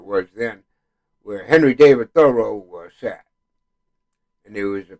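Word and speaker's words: Thoreau: It's wonderful when you think of people like Edgar Allan Poe, Ralph Waldo Emerson, Henry David, and I heard it pronounced thorough.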